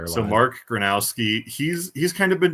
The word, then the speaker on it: Gronowski: Granowski. Yeah, it's really easy to just say Gronowski because we've said that name our entire lives. So Mark Granowski, he's he's kind of